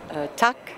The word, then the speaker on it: tack: how do you say thank you in Swedish tuck that is correct Oh two down okay how